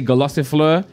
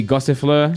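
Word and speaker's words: Gossifleur: pronounce his Pokemon wrong I always say Galasso Fleur but it's actually gossip Fleur so my bad there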